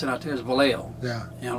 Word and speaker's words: Vallejo: where did you live and this is a valley joe and i said what valley that's why they pronounce it back no that's it's actually villego yeah you know it's what they pronounce it out there is vallejo yeah you know like san jose they'll call